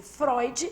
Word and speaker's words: Freud: Se aprendo que o oi, falado no alemão, se escreve eu, quando aparece Freud, eu pronuncio Freud, né?